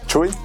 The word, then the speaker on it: CHXY: What the My name is and my artist name or the name that I go by online is Chu. It's spelled C HX Y.